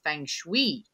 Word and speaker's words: feng shui: things that you do which is all things feng shui i'm saying right oh good okay because one